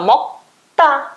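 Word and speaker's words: 먹다: Vai ficar mokta. Ele vai fortalecer o T seguinte. Vai ficar mokta, mokta. Tá? Mokta. Tá vai ser a sílaba mais forte, a sílaba tônica. Ele é uma oxítona.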